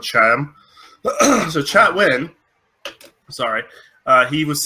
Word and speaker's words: Chatwin: scenes was the guy who plays Grant cannot pronounce his last name for some reason right now. Chatwin. Justin Chatwin. Chatwin. There we go. I kept on wanting to say Chatham because I just got done living in an area called Chatham.